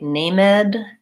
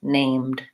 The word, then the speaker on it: named: it with no e we don't say Khalid we say called we don't say named ed you say named and many of these